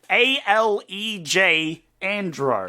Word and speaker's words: Alejandro: A-L-E-J Andro. Oh, it's Alejandro. Oh, I just don't know how to pronounce Spanish names.